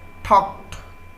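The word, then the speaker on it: talked: উচ্চারণ লক্ষ্য করবেন, এই টকের সাথে যখন আপনি পাস্ট ফর্ম ইউজ করবেন তখন হবে টকড, ডি উচ্চারণ হবে না, উচ্চারণ হবে ঠকড, ঠকড।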